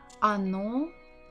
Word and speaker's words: оно: Оно тут. Оно тут. Again, the word оно. The stress is on the final syllable. What about the first? Not stressed, so we say it as a.